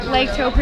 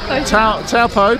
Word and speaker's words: Taupo: Lake Taupo, is that how you say it? Well, Taupo, closer, okay. But close enough.